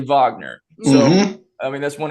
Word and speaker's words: Wagner: It says Wagner, but it's actually Wagner.